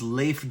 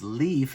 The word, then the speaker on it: Leif: My name is Leif, and often people think it's Leif is how you pronounce my name.